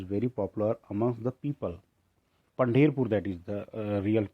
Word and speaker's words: Pandharpur: Pandherpur, that is the real pronunciation. If we talk about it, that is called Pandherpur, related to the Sai also.